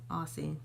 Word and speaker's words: Aussie: And my third favorite deep conditioner is Aussie, that's how you say it, Aussie.